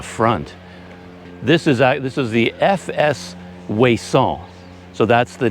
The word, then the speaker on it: Ouessant: coast of France, called Ouessant. I think a lot of British usage and English calls it Ouessant, but the French pronunciation is Ouessant.